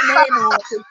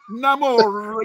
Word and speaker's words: Namor: Not Namor. Namor. You got to make the R roll.